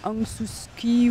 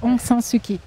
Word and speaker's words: Aung San Suu Kyi: C'est pas Aung Suu Kyi ou Aung Suu Kyi. C'est presque ça, Aung San Suu Kyi.